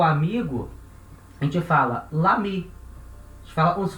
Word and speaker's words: l'ami: Le ami. Não pode. O e cai, vira l'ami, certo?